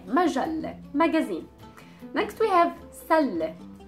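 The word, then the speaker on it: مجلة: Next one is majalle. Majalle. Majalle. Majalle means a magazine, and we have the L sound and then the T marboota, the circle T at the end.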